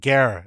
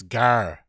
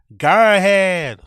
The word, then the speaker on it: gearhead: Is that gear? It's not gear. It's gar. Garhead.